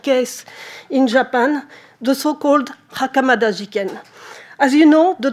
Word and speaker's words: Hakamata: very much hideko hakamata everybody says the real pronunciation is hakamata and the lawyer hideo